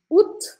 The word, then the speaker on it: août: Agora tem um que se escreve estranho, mas o som dele é fácil. Ut. Ut, tá escrito um monte de letra, mas você vai falar ut, ut, como se fosse assim, ó, ut, ut.